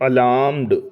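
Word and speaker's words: alarm: आर आएगा आगे है अलार्म अलार्म में बोलते वक्त तो आर का साउंड नहीं आता क्योंकि यहां पे आर साइलेंट है लेकिन स्पेलिंग में आर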